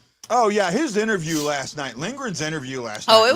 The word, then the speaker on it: Lindgren: But the thing that gets me with Lindgren though is it's my stepdad's last name. So everyone's misspelling it or mispronouncing it, and I'm like, it's Lindgren, Lindgren, Lindgren.